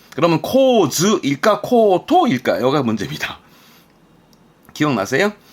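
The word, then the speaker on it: 構図: 그러면 구도라는 건 구는 코 발음이건, 그러면 코즈일까 코토일까? 여기가 문제입니다. 기억나세요? 이 도자의 경우는 도서관의 도, 의도하다 할 때 이 토 정도만 토로 보고 나머지는 몽땅 즈로 가라 했었습니다. 그래서 발음은 코즈입니다. 명심하세요. 코즈.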